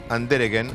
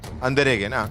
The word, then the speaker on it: Andereggen: Y Andereggen, así me dice que se pronuncia el apellido. Andereggen, Sí.